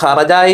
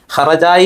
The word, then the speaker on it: ഹറജായി: പ്രയോഗങ്ങൾ വേറെ ഉണ്ടാകും അപ്പോ ഹറജായി എന്ന് പറഞ്ഞാൽ അവിടെ ഹറജായി എന്ന് പറയ ഹ എന്നുള്ള ഉച്ചാരണം വേണ്ടതുണ്ട് ചില സ്ഥലങ്ങളിൽ അറബി മലയാളത്തിലുള്ള